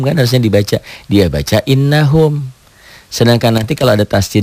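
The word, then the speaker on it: إنهم: innahum apa hukumnya gunah Kenapa karena nunnya bertasid nunnya sidah ada P dobel cara bacanya Ya diobel dibaca ganda nunnya ya dengung ke hidung Ya ditahan ditahan Bukan a-nya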